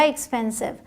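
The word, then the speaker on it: expensive: एक्सपेंसिव एक्सपेंसिव ध्यान दें अगर अलग से आए एस आईवी तो साइफ कहेंगे बट अब साथ में है तो ये सिर्फ पढ़ा जाएगा एक्सपेंसिव डब्लू ई व एच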